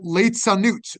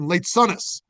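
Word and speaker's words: ליצנות: One of the reasons given for ultra-Orthodox attitudes to TV is they call it leitzanut, or in Ashkenazic pronunciation, leitzonus, scornful, mocking, or dismissing important things as being worthless, right?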